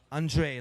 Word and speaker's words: Andras: Or it spells Andras, but it it is pronounced André, like the French André.